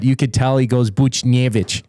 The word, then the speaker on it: Buchnevich: Well, you hear Jack Michaels pronouncing Pavel Buchnevich. Like I know in the pronunciation guide it says like the emphasis on the nay, but you could tell he goes Buchnevich.